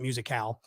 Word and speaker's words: Musicale: It spells like musical, but they pronounce it musicale.